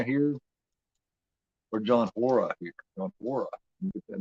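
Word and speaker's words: Hora: John Ora. Get that name, John Ora. It's actually pronounced Ora.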